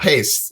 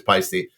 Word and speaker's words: Paiste: say it it's like the ey is silent it's Swiss I don't know what that means but it's not paste it's not paste it is pisy so we have double